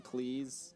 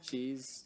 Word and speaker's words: Cleese: performance in this movie has to be john cleese cheese you said it right the first time john cleese pronounced that before i record this no no